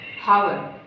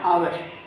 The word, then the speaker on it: hour: जैसे हमारा पहला शब्द है हावर, HOUR, आवर। आवर में H है वो साइलेंट है, तो इस वजह से H साइलेंट होने से इसकी ध्वनि आती है आवर, और इसके पहले एन का उपयोग होगा। ऐसे ही है HONEST, तो